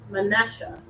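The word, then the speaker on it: מנשה: Manasseh is pronounced Manasseh.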